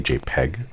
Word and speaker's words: JPEG: I realize, like, because of my accent, my pronunciation, it comes across as smile.jpg. But I'm trying to say JPEG, but the eh sound is kind of crunchy.